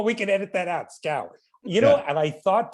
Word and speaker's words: Schou: unique pleasure to be in conversation with nicholas schaub nick is an award-winning investigation sorry i should have said it's actually pronounced yeah all right but we can edit that out scour you know and i thought to ask you